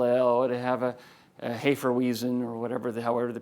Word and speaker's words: Hefeweizen: have a pale ale, it would have a Hefeweizen or however they pronounce it. It's supposed to be called Hefeweizen, by the way, et cetera.